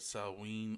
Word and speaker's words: Samhain: of ancient Ireland known as Samhain but properly pronounced it suggests a salween or salween so I guess that's how Halloween